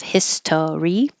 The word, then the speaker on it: history: came from Israel's history history can be shortened so instead of History just two syllables history Israel's history were